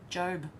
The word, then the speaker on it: Job: Darren said, Hev, Job does not rhyme with gob, it rhymes with robe. I said it right that time, didn't I? Job.